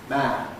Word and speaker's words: man: So, this is why a word like man can often seem to have really a rather long a against the rule that this is a short vowel.